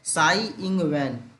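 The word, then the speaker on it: Tsai Ing-wen: तसाई नहीं पढ़ना, T silent है इसलिए साई इंग वैन।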